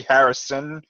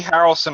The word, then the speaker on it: Harrelson: i just a note i think i pronounced his name is woody harrison and one of the other cast I politie wrong arm woody harrelson apparently is confirmed for